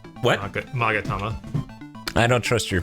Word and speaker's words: Magatama: It says Magatama. What? Magatama. I don't trust your pronunciation on anything.